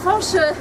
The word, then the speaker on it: Fañch: la langue bretonne et Fanche. Il a besoin de son tilde puisque Fanche en breton c'est avec tilde qu'on puisse se prononcer comme il se doit.